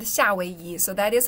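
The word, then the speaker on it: 夏威夷: So, Hawaii is like the direct translation, the pronunciation translation of Hawaii into Chinese.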